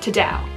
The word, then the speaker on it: ta-dow: But it's not like ta-da, it's not that inflection, it's very flat, just ta-dow. Ta-dow. So you say it like that.